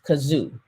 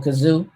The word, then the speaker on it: Cazoo: all right next up on our list is kazoo and kazoo it's spelled c a um zoom c a z